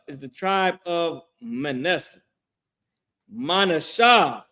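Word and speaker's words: מנשה: Manasha is how you pronounce that in Hebrew.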